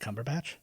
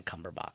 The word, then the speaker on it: Cumberbatch: time it's me no it's never been cumberbach it's Cumberbatch yes oh I've lost